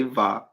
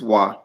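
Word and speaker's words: ו: The modern will say Va, but it's Wa.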